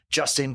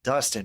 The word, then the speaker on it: Dustin: this podcast i had former nc state wrestler justin cowell uh you say justin or dustin dustin man i was so worried about the last